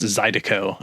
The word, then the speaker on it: Zydeco: interesting mix of stuff I've heard it also pronounced Zydeco I guess you could put the accent on the second one I don't know yeah that's probably that's probably more correct than what I said so I'll give you